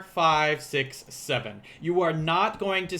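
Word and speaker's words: の: is to realize that the dash is going to be pronounced as no this dash here will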